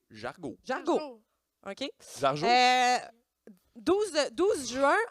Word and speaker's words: Jargeau: Je suis pas sûre de comment on le prononce. C'est Jargeau. Jargo.